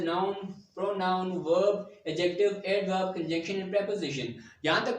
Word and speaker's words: conjunction: And here this word is conjunction. Stress will be on the J or the J sound.